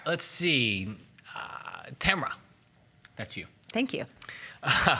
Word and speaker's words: Tamara: Tamara, that's you. Thank you. You even pronounced it correctly. I know. It's like camera, but with a T.